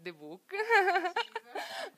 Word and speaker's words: Zebook: è nato zibook che si scrive zebook ma si legge The book o al contrario ognuno può leggere come vuole e niente grande passione